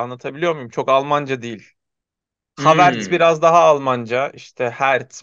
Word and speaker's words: Havertz: sonundaki Z'yi de böyle sonunda bir tıs sesi bırakacak şeklinde sonlandırmak. Havertz. Doğru. Havertz. R'yi vurgulamadan Havertz.